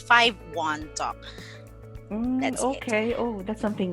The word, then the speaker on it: 51Talk: Okay, it should be 51 Talk because in Chinese, it sounds like I talk. So in their language, it sounds like I talk. So it's 51 Talk.